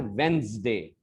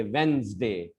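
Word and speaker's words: Wednesday: फिर से सुनिए, इसको हम लोगों को कैसे बोलना है, वेंसडे, ज मुंह थोड़ा झन्नाना चाहिए, वेंसडे।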